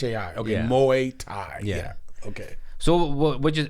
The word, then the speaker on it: Muay Thai: you how do you pronounce it again M Muay Thai mu Tha Muay Tha Muay Thai m u a y right yeah t h a i okay Muay Thai yeah okay so what you what did you